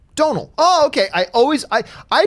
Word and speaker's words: Domhnall: said it like this think of like audio tonal right tonal like a tone tonal now just with a deep Donal okay I always I